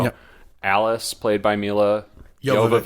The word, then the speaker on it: Jovovich: Alice, played by Milla Jovovich. Jovovich. We put a lot of work into researching how to pronounce this name before the Milla episode.